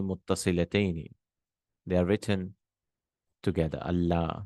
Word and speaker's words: Allah: So anla, you say Allah. The noon is changed into a lam, and the two lams are joined.